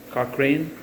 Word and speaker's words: Cochrane: Cochrane?